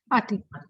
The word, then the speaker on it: Ati: And the speakers, Toastmaster, how do you pronounce his name? Is it Ati? Ati. Ati.